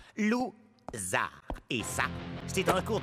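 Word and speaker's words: Lou Zarr: Je suis Monsieur Loser. Mon nom se prononce Zar. Lou-Zar.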